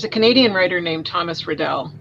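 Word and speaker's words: Raddall: canadian writer named thomas riddell um rattle i think is how he pronounced his name he was a nova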